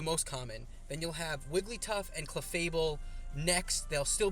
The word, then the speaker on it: Wigglytuff: so I have a feeling clefable and uh igly buff right or no I always I always get his name wrong Wigglytuff I'm sorry about that um Clefairy and Jigglypuff